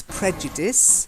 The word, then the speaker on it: prejudices: quarrel okay good then prejudices it's not like ice I slice B it's prejudice they not prejudice prejudice like it's singing yeah like his that's it prejudice so then you've got